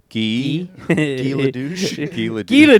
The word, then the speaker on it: Guy: Is it Gee almost like pronouncing it Gee is at least like it's not just the word Guy. You're You're just trying to hide that it's Guy if you're pronouncing it Gee.